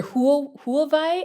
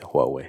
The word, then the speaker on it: Huawei: Uh, or Hulvi, I think in Germany is how they pronounce. Yeah, it would be German. Yeah. But the real name is Huawei.